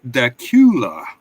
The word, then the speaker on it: Dacula: It is Dacula, not Dacula.